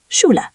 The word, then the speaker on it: Schule: Yes, sh is like English sh, Schule, school. But be careful. Earlier we said ch is not sh, so don't mix those up. Got it. Schule is sh, but ish is the airy sound.